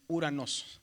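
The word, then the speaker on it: οὐρανός: Entonces, aquí es la palabra se dice Uranosos. Ahora, la regla de la gramática del griego moderno dice que cuando hay una ou no se pronuncia la omicron, se pronuncia solamente la u. Entonces dice uranos.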